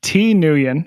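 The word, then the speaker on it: Thi Nguyen: His name is uh T Newion, which is spelled t h i space n g u ye n and he's up at the University of Utah.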